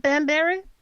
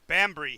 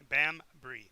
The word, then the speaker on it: Bambry: It's not Banbury? What is No. it? Bambry. Bambury. Banbury. No, We're writing there's no. down. It's two syllables still. Two syllables, Gene. Bambry.